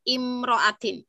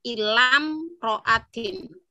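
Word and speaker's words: امرأة: Kalau kita melihat dari yang ditayangkan itu kan imro'atin hamzahnya tidak ada harokatnya ya. Ya, itu kalau misalnya memang boleh dibaca ila imro'atin karena dia jadi imriin imroatin, ya kan? Imriin itu apa namanya muzakarnya, imroatin muannasnya. Nah, ini boleh juga dibaca ilam roatin gitu, ya.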